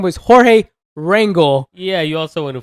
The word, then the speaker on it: Rangel: R A N G E L Rangel, first. Everybody out there, it's not wrangle, it's Rangel.